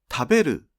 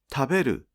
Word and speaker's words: 食べる: この単語の辞書形の発音は、たのピッチが下がり、